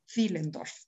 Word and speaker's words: Willendorf: otras partes del mundo, la W o W, como se dice aquí, no se pronuncia como en inglés, como el sonido de we, sino que se pronuncia como la V, como la de corta española, Willendorf, tal cual.